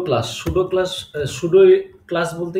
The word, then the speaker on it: pseudo: এখন আমরা যেটা বললাম সুডো class. সুডো class should class বলতে কি আপনি উচ্চারণটা দেখেন।